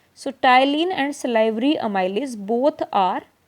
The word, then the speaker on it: ptyalin: You can say ptyalin, P is silent. So, ptyalin and salivary amylase both are same.